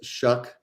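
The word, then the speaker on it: Shough: Also, as a somebody that has studied na name pronunciations and foreign languages, Shuck does not make any sense to me and it hurts my brain. Okay. So looking over the past few weeks, Tyler Shuck is averaging about 20 20 to 21.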